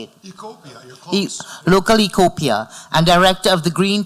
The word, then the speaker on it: Localecopia: Localecopia, and director of the Green Team at the Breakers Palm Beach.